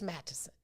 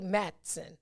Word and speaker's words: Madison: was saying it wrong but it's madison so yeah a great turnout for that a great turnout for that event so that was that was super dope from madison man we are not saying all those syllables yeah yep matt tisson we we do say madsen yeah he's from madison